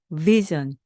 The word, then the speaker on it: vision: 아니고요 전네 뭔가 좀 끈적 끈적 하죠 그렇게 발음을 해주셔야 됩니다 앞에서 VI 와 sion이 만나면 vision vision 여기서의 vision 그요 영상 또는 시각 바로